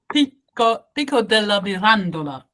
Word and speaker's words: Pico della Mirandola: Yeah, of course, because his name was Pico della Mirandola. I suppose I pronounce it a little bit closer to his Italian, so the way it is said in Italy.